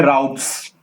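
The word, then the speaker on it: routes: सो इसको स्लैश के बाद जो भी होगा उसे आप बोलेंगे राउट्स, ना कि रूट्स, ठीक है ना।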